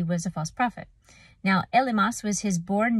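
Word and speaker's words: Elymas: Now, Elimas was his born name. So in the Greek, that's pronounced Elumas, and that's an Arabic name for a Jewish magician or sorcerer, and it means wise man.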